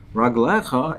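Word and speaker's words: רגליך: But the way we pronounce it is Raglecha in the plural.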